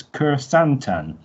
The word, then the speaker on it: Kur Santan: a rookie gladiator which i've looked for the pronunciation and it's kur santan apparently who comes from the help